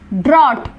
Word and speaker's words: drought: Next ड्रॉट, silent क्या है यहाँ पर GHDROUGHT ड्रॉट। सैमन, यहाँ पर साइलेंट क्या है लेटर, साइलेंट है ASAMOAN।